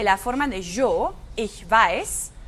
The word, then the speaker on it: weiß: Y aquí también la conjugación de la forma de yo, ich weiß. Weiß es la misma palabra, la misma pronunciación, se escribe igual que el color blanco, weiß.